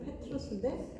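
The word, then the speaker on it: Πέτρος: 말을 주요 베드로 근데 이거는 이제 헬라어로 페트로스 발음은 이제 페트로스 반석이라는 뜻이에요 어 베드로가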